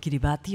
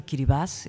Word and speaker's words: Kiribati: the South Pacific that's called Kiribati or Cuba's if if you pronounce it correctly that made a change